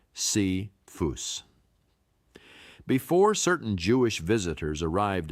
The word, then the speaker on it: Cephas: Paul refers to Peter by his Aramaic name Cephas, pronounced C-phus.